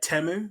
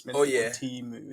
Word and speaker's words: Temu: research on was uh temu or teu actually apparently it's teu that's how we you meant to properly pronounce it um that's like